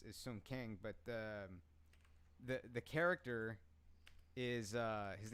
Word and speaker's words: Sung Kang: Hong Kang? Yeah. Okay. No. That's the actor's name is Sung Kang, but the character is his name is Han.